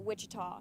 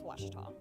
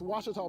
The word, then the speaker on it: Ouachita: Ouachita Sports digital Network I've heard people say oh a cheetah oh Wichita oh a cheetah is it pronounced oh Akita super Washita Baptist University back in Texas everybody pronounces it Wichita but really it's Ouachita Washington how would you pronounce it Baptist University get it right it's Ouachita people it's Ouachita place for